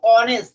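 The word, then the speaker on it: honest: উচ্চারণ ঘোড়া হরস তখন কিন্তু এ হবে কিন্তু অনেস্ট এটা উচ্চারণ অনেস্ট এইচটা কিন্তু এইচ এ উচ্চারণ হয়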